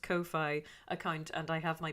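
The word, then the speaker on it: Ko-fi: I I started up that coffee that should be pronounced Kofi account and I have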